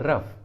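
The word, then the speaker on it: rough: For example रफ, रफ, देखिए यहाँ पर जी और एच लास्ट में है और दोनों एक साथ है तो यहाँ पर इसका प्रोनाउंसिएशन एफ हुआ है, एफ, रफ, रफ।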